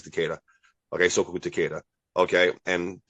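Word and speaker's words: Takeda: dro Aikiu from cicada uh from some Osai cicada like I can't I can't remember his how to pronounce his name teada sorry it's teada okay so teada okay and uh I jiu-jitsu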